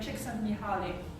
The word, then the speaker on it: Csikszentmihalyi: We also have Flow by Csikszentmihalyi. That's how you pronounce that weird name.